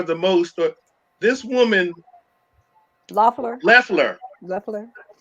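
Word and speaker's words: Loeffler: that they are the most or this woman loffler leffler lefler that's the way they pronounce it i mean it's supposed to be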